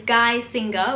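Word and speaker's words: Geissinger: actually messaged me because on my last video i was pronouncing it wrong and completely butchering her name so it's guy singer which is great this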